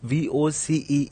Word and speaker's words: voce: First of all, let me tell you the word VOCE is pronounced as Voce and not Voce or Voce or Voce.